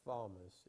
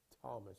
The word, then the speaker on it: Thomas: Thomas and it's not Thomas it's Thomas you don't you don't pronounce the h who are those people